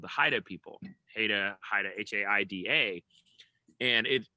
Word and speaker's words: Haida: called the haida people heda haida h-a-i-d-a and it the pronunciation is very very close but not quite exactly the same as haida chandler's last name and so uh every